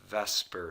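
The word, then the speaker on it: VSEPR: is based upon a theory that is called Vesper Theory and I know that it says the supper model but they pronounce it and Vesper in order to make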